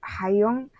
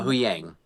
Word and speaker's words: Huyang: Personally thought he nailed Hayong. Is that how you say it?" Uh Huyang.